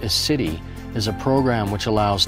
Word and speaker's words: CITI: The CHAMP VA In-House Treatment Initiative, pronounced as CITI, is a program which allows CHAMP VA beneficiaries to be treated at a participating VA medical center.